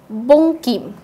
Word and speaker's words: বঙ্কিম: বঙ্কিম, বঙ্কিম আমরা সবাই চিনি বঙ্কিমকে, তো বঙ্কিমের উচ্চারণটা যদি আমরা লক্ষ্য করি অং এর মতো হচ্ছে। রং, রং পুরোই উচ্চারণটা র সাথে অং, রং।